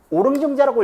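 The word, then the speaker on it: 於陵仲子: 어릉증자의 고사가 있어요. 어릉증자 혹은 오릉증자라고 읽어야 맞는다고 하는 사람도 있더라고. 이게 원래 어조사 어자인데 이렇게 쓸 때는 오릉이라고 읽는 게 더 맞다는 사람도 있더라고요.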